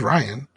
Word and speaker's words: Rian: keep calling rian johnson his name is ryan it's just spelled funny it's ryan it's spelled funny but it's ryan i don't know whatever